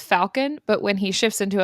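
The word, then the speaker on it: Falkan: Fun fact, his name is pronounced Falcon, but when he shifts into a falcon, they say Falcon.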